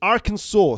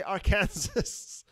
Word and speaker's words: Arkansas: It's Arkansas. Sid G says Arkansas. Do not say Arkansas. I guess it's like when Americans say like, I don't know, when they say